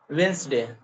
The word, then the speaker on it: Wednesday: we say wedness day so it is not wedness it is Wednesday Wednesday yeah Wednesday right